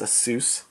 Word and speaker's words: ASUS: It's ASUS.